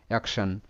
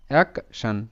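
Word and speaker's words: action: মাঝামাঝি সাউন্ড সান মানে যদি কোন শব্দে টি আই ও এন পাশাপাশি থাকে তখন কিন্তু টি আই ও এন এর উচ্চারণটা সান এরকম হবে সান এখানে তাই এর উচ্চারণটা হবে অ্যাকশন মানে এ সি এক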